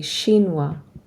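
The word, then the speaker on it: chinois: have a boy you are Chinese to a shinoa we don't say the S on shinoa if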